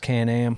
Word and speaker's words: Can-Am: Thank you to Can-Am, pronounced Can-Am, for bringing us this podcast.